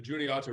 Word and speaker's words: Juniata: the way that the river, and I can't pronounce it, forgive me, Juniata River? The Juniata River, yes.